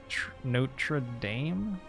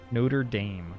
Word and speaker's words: Notre Dame: I can't even remember What's the American pronunciation of uh Note Notre Dame? Notre Dame, right? Notre Dame. That's our That's our most public disgrace, I think, in terms of in terms of aggressively butchering the French language.